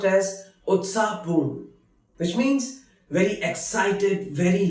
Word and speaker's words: उत्साहपूर्ण: Utsahpurn, which is pronounced as Utsahpurn, which means very excited, very lively.